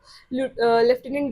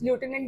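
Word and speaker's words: lieutenant: अब Punjab लेफ्टिनेंट governors province. Punjab अब क्या थी? लेफ्टिनेंट governors province. लूटिनेंट बोल लो, लेफ्टिनेंट बोल लो जिसको जैसे प्रोनाउंस करना है।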